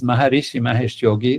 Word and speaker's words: Maharishi Mahesh Yogi: And I was lucky to work with Maharishi Mahesh Yogi. This is how we pronounce it.